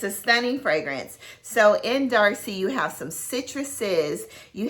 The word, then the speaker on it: Darcy: of hoffman's demarlie and it rhymes with marcy so guess what it is darcy so y'all darcy is